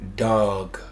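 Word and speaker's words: דג: The Hebrew word for fish in this passage Strong's 1709 dag, which is pronounced dog.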